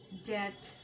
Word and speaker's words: debt: Aplomb, bomb, climb, comb, crumb, debt, doubt, dumb, jam, lamb, limb, plumber, succumb, thumb, thumbs up, bomb, tom. এইসব ওয়ার্ডগুলোতে বি উচ্চারিত হয় না।